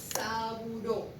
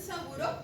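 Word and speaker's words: Sabouraud: Juan, es el medio, se pronuncia saburo y se escribe así, en francés. Sabura. Si ustedes en un examen le dicen medio de cultivo de hongo y dicen saburo, lo van a tener bien.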